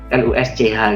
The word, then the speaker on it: Lusch: Tulisannya LUSCH gitu, bacanya Lusch.